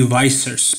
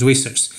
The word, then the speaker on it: Vissers: I think he said Wesley Vissers, but his last name is Vissers.